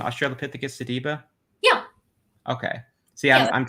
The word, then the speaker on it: Australopithecus sediba: Australopithecus sediba. Yeah. Okay. See, Yeah. I'm trying not to mispronounce any big words, so you'll have to bear with me.